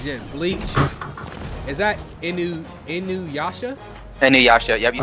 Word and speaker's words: Inuyasha: Inuyasha.